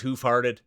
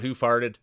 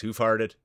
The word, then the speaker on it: Hoofhearted: It is hoofhearted. That's how you say it. It's not Hoofarted. It's Hoof Harted.